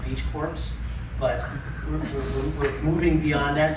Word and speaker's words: BeachCorps: It's occasionally pronounced Beach Corps, but we're moving beyond that so people kind of understand that this is Beach Corps like the Peace Corps.